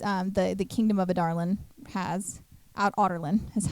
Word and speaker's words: Adarlan: The other slave camp that Adarland runs is um the the kingdom of Adarlin has out Otterland is how I always say it's differently. Otterland is how they pronounce it.